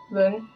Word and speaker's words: Ban: J'ai envie de faire Ban. Ban. Ouais, si, c'est comme ça qu'on prononce.